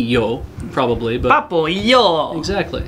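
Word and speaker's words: Papo & Yo: Today I am Re says it tilts me slightly when people pronounce the ampersand in Papo and Yo as and instead of E, because it's Papo E Yo, right?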